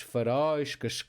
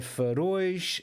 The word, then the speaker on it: faróis: Portanto, palavras que terminam em ditongo, em português, vão ser naturalmente acentuadas na última sílaba. Portanto, este acento aqui não está a indicar a sílaba tónica, está a indicar o tom da vogal. Porque sem acento eu ia pronunciar faróis, cascóis.